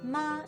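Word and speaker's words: 妈: the word for mother ma is pronounced exactly the same as the word for horse ma except for the tome thing mother uses the first tone ma horse uses the third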